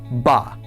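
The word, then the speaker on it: בָּא: This word is spelled Beit Aleph, and it is pronounced Ba.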